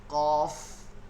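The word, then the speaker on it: قاف: তারপরও ওইখানে গিয়ে বলতেছেন কপ কাপ এগুলো একটু খেয়াল করতে হবে কপ কাপ না কি হবে কফ কাফ আপনি যেহেতু শুদ্ধ করে পড়তেছেন হরফের উচ্চারণটা শুদ্ধ করে পড়তে হবে তাই না কফ কাফ কফ কাফ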